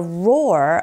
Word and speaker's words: roar: Along with the roar of the waterfalls. 자, roar, R-O-A-R 발음하실 때 우 입모양 잡아주시면서 하면 돼요.